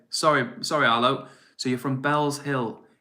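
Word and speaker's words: Bellshill: Arlo says, by the way, it's pronounced Bells. Okay, sorry, Arlo. So you're from Bells Hill.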